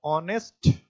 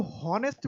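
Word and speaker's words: honest: बोलते हैं ऑनेस्ट बॉय। तो इसको हॉनेस्ट बॉय नहीं पढ़ते, इसको क्या पढ़ते? ऑनेस्ट बॉय।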